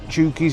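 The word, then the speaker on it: Chouky's: to show you the name there it is chies that's how you say it always spell It Anyway some reason it says chies up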